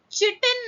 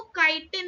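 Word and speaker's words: chitin: चिटिन नहीं है, वो काइटिन है, उसे कोई चिटिन नहीं बोलेगा, वो काइटिन है.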